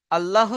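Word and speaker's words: الله: আল্লাহ শব্দের লাম মুসাদ্দাদের আগে জের এসেছে, আল্লাহ শব্দের লাম মুসাদ্দাদের আগে জের এসেছে, তাই আল্লাহ শব্দের লামকে বারিক অর্থাৎ লা পড়তে হয়।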